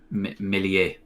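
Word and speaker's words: Meslier: calm and composed because he says it's pronounced melee yeah it makes sense the french you know pronounce the miz um wow kiko casey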